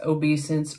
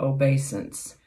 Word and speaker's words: obeisance: And today's word is obeisance, which can be pronounced obeisance or obeisance.